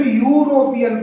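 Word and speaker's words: European: अब यहाँ पे देखो, यहाँ पे यू से, यहाँ पे ई साइलेंट है, यूरोपियन पढ़ रहा है। तो चूंकि यू हमारा हिंदी में व्यंजन होता है इसलिए इससे पहले ए लग रहा है।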